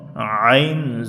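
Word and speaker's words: ع: যে অক্ষরটি এখন পড়বো আইন এ অক্ষরটি সাধারণ মানুষ অনেকেই কিন্তু ভুল করে ভুল উচ্চারণ করে হামজার মতন উচ্চারণ হয় এমনটি যেন না হয় আমরা একটু বেশি বেশি প্র্যাকটিস করব হলকের মধ্য থেকে একটু একটু চাপা নেওয়া যাবে কন্ঠনালীর উপরে একটু চাপ দিয়ে পড়তে হবে যেমন আইন জবর আইন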